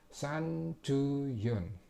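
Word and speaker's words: 三十四: Jadi bacanya san ju yon, seperti itu.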